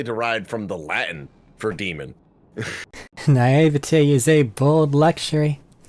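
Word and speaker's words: daemon: Actually, whenever it's spelled that way, it's just pronounced demon.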